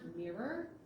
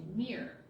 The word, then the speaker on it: mirror: For example, the word mirror has 2 syllables. If you're not careful, you might like you're saying mir, and that's a Russian space station.